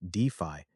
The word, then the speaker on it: DeFi: Developer migration is accelerating due to better DeFi, pronounced DeFi, efficiency.